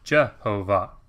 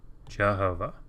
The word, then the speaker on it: Jehovah: not a word right the Masri's weren't anticipating anybody pronouncing this Jehovah what they were anticipating is that you would see the Tetragrammaton here and you would say no I'm not supposed to pronounce Jehovah I'm supposed to pronounce I don't I but instead if you combine these consonants with these valves you get this weird amalgamation Jehovah Jehovah hopefully that gives you